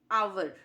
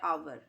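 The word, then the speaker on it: hour: देखिए नेक्स्ट शब्द है अवर इसमें आगे साइलेंट है आगे का जो साउंड है वह साइलेंट है तो आगे साउंड ए रहा है अवर तो ये क्या है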